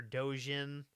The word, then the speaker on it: Dogen: This is our main character, Dojin. That's spelled Dogen, not like fan made independent Japanese comics, which I made.